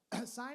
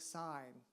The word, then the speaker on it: sign: The silent letters. Sign is a great one. So there are words in which there are letters that like sign. What's the letter we don't hear in sign everyone?